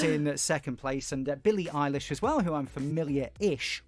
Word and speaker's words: Eilish: That's how you pronounce it, isn't it? Not Eilish like the Manx name. I have definitely said Eilish and been told it's Eilish.